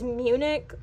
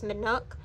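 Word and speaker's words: Minuk: But next we have Manuk or I mispronounced it as Munich back in the day and then it just kind of stuck. So I sort of stuck with the name Munich. But her real name is Manuk.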